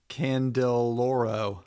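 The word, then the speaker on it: Candiloro: I'm right I'm dyslexic c-a-n-d-i-l-o-r-o candel lauro there you go candy Laurel and also it's close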